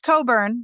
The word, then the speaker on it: Cockburn: Cockburn. Yes, absolutely. Okay. I'm sure it's pronounced Coburn, but it's Cockburn.